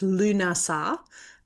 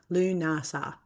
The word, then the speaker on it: Lughnasadh: Now the origins behind it actually come from and I can never pronounce the name properly but it's Lunasa uh Lunasa Lunasa say it slowly uh it's a Celtic festival